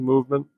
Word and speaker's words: MVMT: It's spelled MVMT, Movement.